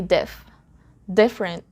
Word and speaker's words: different: just say different different the silent letter here is the letter e so instead of saying differ we just say diff different even native speakers follow